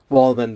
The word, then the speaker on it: Wohlman: Wohlman, the way it's spelled, WOHLMAN.